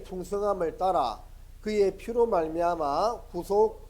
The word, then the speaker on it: 구속: 그 발음을 좀 잘 해야 되는데, 쇠고랑 차는 구속은 구속 짧게 발음하고, 영혼 구원받는 구속은 구속 좀 길게 발음해야 됩니다. 한번 따라 해볼까요? 구속.